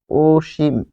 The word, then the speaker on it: অসীম: যেমন কাউকে বলছেন হে অসীম তুমি এদিকে আসো। তাহলে অসীম যখন বলছেন তখন হবে ওসিম।